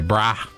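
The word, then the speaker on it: Canberra: of Australia canura bar we just say braah so c a n b e r a we say brah it's the same with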